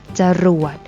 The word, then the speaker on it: จรวด: นํา อักษร ต่ำ เดียว เสียง ของ พยางค์ ที่ สอง จะ เปลี่ยน ไป ตาม อักษร ที่ เป็น ตัว นำ เช่น ตลก อ่าน ว่า ตลก จรวด อ่าน ว่า ว่า จรวด อร่อย อ่าน ว่า อร่อย